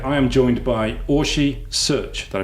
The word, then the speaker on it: Szőcs: the engaging marketeer I am joined by Ori search did I pronounce that correctly yes that's correct fantastic uh